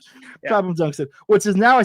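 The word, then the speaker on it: Clapham: Many of the most purple hours of my life have been passed at Cap Kaplam Junction. Clappam, I think it's pronounced. Clappam Clappam Junction.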